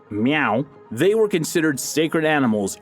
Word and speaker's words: Mau: Known as MAU, which is likely pronounced meow, they were considered sacred animals and praised for their effectiveness in killing snakes and controlling vermin.